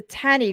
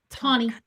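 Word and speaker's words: Taney: and probably since then I always mispronounce the Tanny Court right did I mispronounce it again Tony always get that wrong always it's got one end I should know better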